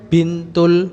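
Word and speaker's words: بنت: pintul falahi Tanpa li kan bintul falahi. Falahi. Nah, li binti. Jadi belakangnya aja binti. Ya, ti-nya aja, ti. Bintil falahi. Ini tidak ada hamzah wasalnya, jangan li benti. Ini bukan ibn, beda. Ini bint.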